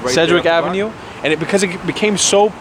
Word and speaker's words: Sedgwick Avenue: there on how do you say it said Cedric Avenue Sedgwick Avenue and it because it became so packed and